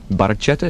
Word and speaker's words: Barchetta: Tune is called Red Baretta. Baraceta. Is that's that's how it's pronounced officially?